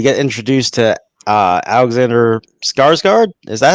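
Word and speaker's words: Skarsgård: go back we get introduced to uh alexander skarsgard is that how you pronounce his name skarsgard okay good i got it right so he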